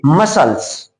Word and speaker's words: muscles: इसी तरह से MUSCLES है, तो यहां यस के बाद सी आया है, लेकिन हम जानते हैं कि जब यस के बाद सी आएगा तो सी का उच्चारण नहीं होगा, सी साइलेंट हो जाएगा, इसको हम पढ़ेंगे मसल्स।